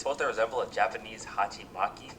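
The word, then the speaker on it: 鉢巻: It's supposed to resemble a Japanese hachimaki. Don't quote me on the pronunciation, but I'm pretty sure that's how you say it and that's just a Japanese style headband, I guess.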